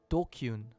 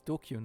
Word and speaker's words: DQN: Yeah, Japanese net slang. Pronounced dokyun. Ah, okay, it's dokyun, not DQN.